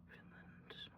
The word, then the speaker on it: Newfoundland: Newfoundland, which is not how it's spelled, but that is how it's pronounced, I believe.